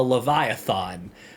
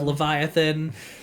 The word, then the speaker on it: Leviathan: And he's like, "A Leviathon." I don't know why they chose to say it like this instead of Leviathan, but it is Levia Leviathon.